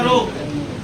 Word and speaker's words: rho: इसको बोलते हैं प्रतिरोधकता, और इसका नाम है रो, RHO होता है रो, है ना ऐसा। इसमें H साइलेंट है, ध्यान दीजिएगा।